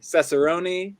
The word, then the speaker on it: Cesarone: We have Gabbie Cesarone and we have Sophia Romine, both here.